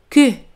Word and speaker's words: que: Et que es que. Que se escriben igual, pero la pronunciación es diferente.